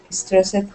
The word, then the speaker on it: stressed: Make sure not to add that extra syllable. So this should be stressed.